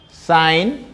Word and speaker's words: sine: So fundamental trig ratios are sine, which is abbreviated as SIN, pronouns sine, SIGN.